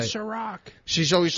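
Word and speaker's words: Cîroc: Ciroc.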